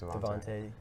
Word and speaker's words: DeVonta: I don't know how to pronounce his name. I thought it was just Devontae. Yeah, it's just Devontae.